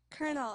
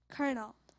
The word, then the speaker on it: colonel: Colonel. Am I pronouncing it correctly? Yes, you are. Colonel.